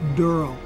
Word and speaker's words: Daryl: he plays durl and it's spelled d r l e it's not darl it's durl please get that right